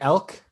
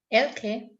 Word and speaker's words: Elke: Elk? Is that, how do you say your name? Elke. Elke, okay.